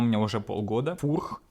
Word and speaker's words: Furch: Фурх, чешская компания, именно так это произносится. Не спорьте, именно Фурх.